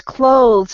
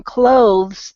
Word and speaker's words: clothes: we're wearing so really the difference is going to be in how you pronounce the O in clothes that's actually why the e is there because it tells us that's a long oh sound so it's clothes whereas without that II at the end it's cloth or cloths so I know that